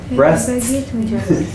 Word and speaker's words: breasts: breasts breasts yeah at the end there's a STS do you see the last three letters there STS breasts that's a hard one